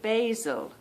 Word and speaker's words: basil: it over here and I'm going to pronounce my vowels like I would if I was living a bit further down south in England uh you pronounce it basil yeah basil basil if I was